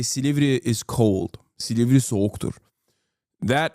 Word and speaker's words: Silivri: He said it wrong. It's not Silivri. It's Silivri. Okay.